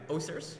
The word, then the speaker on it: Oosters: Joshua Oosters. That's how you say it in Dutch.